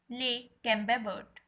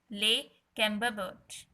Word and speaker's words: Le Camembert: Second type is Le Camembert. Pronounce with me. Le Camembert.